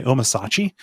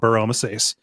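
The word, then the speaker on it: Bur-Omisace: I always want to say Omasachi, but that's not how it's said. Omasachi Burr. Yeah. No, it says, hey, go to Mount Burr Omasace and speak to Grand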